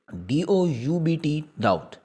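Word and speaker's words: doubt: टुकड़े इससे आगे है डाउट इसमें हम बी नहीं बोलेंगे अगर आप देखें तो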